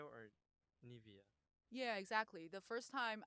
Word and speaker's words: Nevaeh: name for me, I didn't know how to pronounce that either. And he Oh. told me it's Nevaeh because it's a heaven backwards.